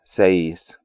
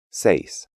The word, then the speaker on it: seis: Remember that the AI diphthong is pronounced like English long I in words like ice, and the EI diphthong is pronounced like English long A in words like face.